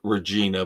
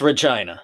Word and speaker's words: Regina: I believe it is pronounced, it's spelled like Regina, but I believe it's Regina.